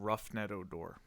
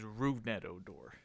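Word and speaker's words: Rougned Odor: Why do you keep calling him Roughnet Odor? That's how it's been pronounced. His name is Rugnet Odor.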